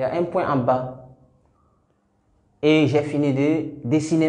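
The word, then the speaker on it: بَ: Pour prononcer cette lettre, on ferme la bouche et on délaisse les deux lèvres. La bouche est fermée d'abord. Ba.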